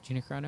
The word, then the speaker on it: Gina Carano: Gina Carano?